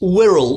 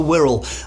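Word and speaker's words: Wirral: It's Whirl. W I R A L. It's the Whirl. And actually now it's not an island.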